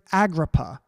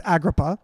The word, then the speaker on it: Agrippa: name this is Herod Agrippa I might be pronouncing that wrong all you you know Aramaic scholars out there but I think it's Agrabah I know the spelling and Herod Agrippa was